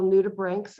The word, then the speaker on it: nudibranch: one of the beautiful nudibranchs we have so um it's pronounced as if it was spelled b-r-a-n-k rather than c h it's a clown dorid